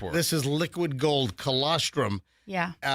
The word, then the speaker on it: colostrum: That there's something called colostrum. Coloststrum.